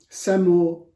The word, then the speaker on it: Semur: that uh this uh recipe comes from Indonesia SEO banka is the Indonesian pronunciation for this um beef in soy sauce